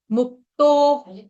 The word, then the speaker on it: मुक्तो: बोलते हैं उसको, मतलब मुक्तो। मुक्त शब्द आसान है, उसके बाद ओ की मात्रा लगानी है, मुक्तो।